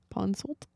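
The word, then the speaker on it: Ponsoldt: sold console is it no the tea would be silent wouldn't it because it'd be Pawn Salt puzzled yep okay so I said it right very slowly screenplay writer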